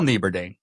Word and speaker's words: Nieberding: Nieberding. Yes, that's with one L and Nieberding with a silent G.